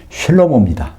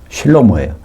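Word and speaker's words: שלמה: 우리말 번역에는 술이라고 나오는데 솔로몬이 원래 히브리 발음은요 슐로모입니다. 슐로모예요. 그거의 여성형이 슐라미트입니다.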